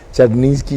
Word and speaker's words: Czarninski: Gad Charninsky Sheffi, ¿se pronuncia?